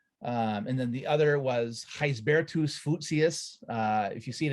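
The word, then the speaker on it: Gisbertus Voetius: lat it's latin uh it's latinized dutch you know heisbertos lucia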